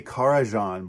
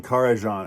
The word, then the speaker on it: Karajan: It's about 30 minutes long, conducted by, I always say Karajan, but I recently heard that I may have been pronouncing his name wrong for many years. Herbert von Karajan. I think in Japan they say Karajan. Somebody help me. I don't think it's Karajan.